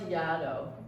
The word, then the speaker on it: Yaddo: But then in 2021, and I encourage all photographers to do this, I applied to Yaddo, rhymes with shadow, and I got in, and it was there that I workshopped it on the wall.